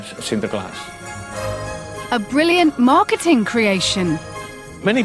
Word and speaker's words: Sinterklaas: In English, Saint Sir Glass. And when you have pronounced it fast, then you can Sinterklaas.